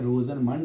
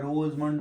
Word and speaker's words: Rosenmund: सबसे पहली और बड़ी ही इंपॉर्टेंट रिएक्शन है वह है रोजन मंड रिडक्शन। जैसे कोई प्रोनाउंसिएशन अलग-अलग तरह की है। रोजन मुंड बोलता है, रोज मंड बोलता है।